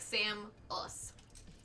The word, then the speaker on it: Samus: little thing ever that that is how you say Samus I'm pretty sure it's like Sam us right yeah it's not a it's it's the nasal ah Samus Samus not SAS it's it's it's so